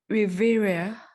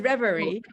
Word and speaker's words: reverie: Allow me to revere where I can wander free. Sorry, I don't know how to pronounce that. It is reverie, but thank you.